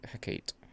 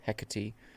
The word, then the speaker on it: Hecate: a sibling blade of Hecate or Hecate, based upon what you want to be, English or Greek pronunciation.